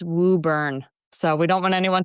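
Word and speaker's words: Woburn: I do have to step in manage for our friends in the Boston area that it's pronounced woo burn.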